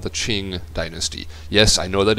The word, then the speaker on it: Qing: So Q becomes Ch, the Qing dynasty.